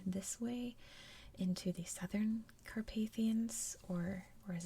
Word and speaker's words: Carpathian: where you are in the English-speaking world, it's pronounced differently. So I've heard Carpathian and Carpathian mountains, but I've always said Carpathian mountains.